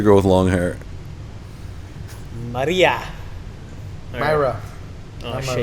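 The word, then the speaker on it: Mayra: with long hair Maria Myra oh you might be right I could be butchering that Mera m a y r a Myra guys learn how to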